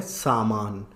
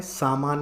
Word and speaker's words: सामान: मतलब क्या होता है यह सही उच्चारण है गलत उच्चारण है यह गलत उच्चारण है समान नहीं होता है सामान होता है अब ऐसा क्यों है